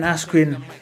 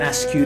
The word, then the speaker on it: Askren: I mean, Michael Buffer getting Ben Askren's name wrong as Ben Askew, that was kind of funny actually, but still, I don't know, man.